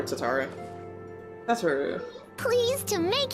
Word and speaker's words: Tataru: also introduce you to tataru tataru but apparently it's pronounced like tatar i don't know i'm probably gonna call her tatara that's her please to